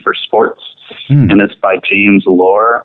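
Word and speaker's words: Loehr: sports minutes by James lore I think that's how to pronounce his last name but spelled L so e HR and it's a book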